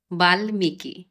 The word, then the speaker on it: বাল্মীকি: অর্থাৎ ম ফলার স্পষ্ট উচ্চারণ হবে। যেমন যুগ্ম, হিরণময়, উন্মাদ, সম্মান, গুল্ম, বাল্মীকি।